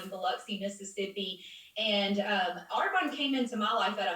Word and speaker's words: Arbonne: what arbonne even was first off i pronounced it arbonne i didn't even know how to pronounce it okay our bony kind of sounds funny but was she recruited at